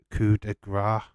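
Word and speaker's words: coup de grâce: there uh this is uh pronounced coup de gras Curry you idiot coupon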